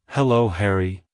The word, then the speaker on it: Harry: to pronounce it correctly emphasize the first syllable hair and then add a quick e e sound at the end like hello Harry goodbye Harry if you found the